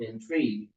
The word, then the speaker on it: intrigue: Because going back to your example of intrigue, even though it's spelled INTRIGUE, the sound, if we were to spell out the sound the way it sounds to us, would be spelled out INTREE.